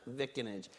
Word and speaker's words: vicinage: And to a speedy trial by an impartial jury of his vicinage. We have a debate about whether that's in New Jersey, that's definitely pronounced vicinage.